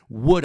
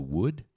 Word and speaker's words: would: Tá vendo a diferença do futuro will com futuro would? Eu chamo atenção pra pronúncia, né, do would. Aqui parece, é o mesmo som da palavra madeira em inglês.